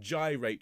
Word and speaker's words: gyrate: make sure you and you pronounce the word gyrate very very clearly because part of the fun is that you then rhyme it with to take and bind the promising